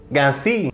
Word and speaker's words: cassis: And I was like, how do you say, I searched it, how to pronounce Cassis. And he's like, Cassis.